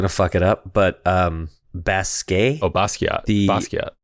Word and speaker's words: Basquiat: fuck it up, but Basquiat? Oh, Basquiat. Basquiat. You're not pronouncing it right. Basquiat, the artist? That's not how you say it? Not according to the internet. Really? No, it's Basquiat.